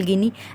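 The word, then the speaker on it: Guinea: गिनी, गिनी बिसो, Equatorial गिनी, ऐसे नाम मिल जाते हैं। तो ये क्या है, इसकी प्रोनाउंसिएशन गुनिया नहीं है, गिनी होगा।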